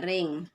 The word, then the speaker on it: range: daerah hasil atau ring, tulisannya range ya, bacanya ring.